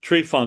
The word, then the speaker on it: Tryphon: You can call it Tryphon or Tryphon, but Tryphon is the way I chose to go by.